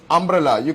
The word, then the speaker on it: umbrella: When you the real pronunciation is umbrella. It's not U angante shabdonnu illa. So it actually sounds like it is starting with a vowel.